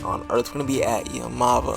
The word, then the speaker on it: Yaamava': Earth's gonna be at your mava hotel resort and casino or better pronounced yam of a San Manuel San Bernardino